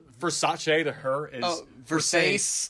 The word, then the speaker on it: Versace: And then the guy she fucked basically goes, it's Versace. It's Versace. Indicating, those guys were making fun of me because I didn't know how to pronounce this word correctly.